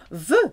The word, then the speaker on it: veut: Il, elle, on veut. Sounds the same, but this time spelt with a T.